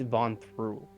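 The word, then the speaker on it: Vonthru: the city um and the mountain's name is van through v-o-n-t-h-r-u all right uh hold on a second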